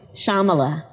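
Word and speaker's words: Shyamala: and that is the name of your mother Shamala so the why is silent Shambhala Shambhala yeah sama let go Gopala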